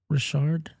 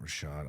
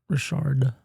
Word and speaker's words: Rashard: the name of Matt Rashard Matt Rashad I do know a Matt Rashad Rashard what's spelled like Richard but Matt Rashard is he a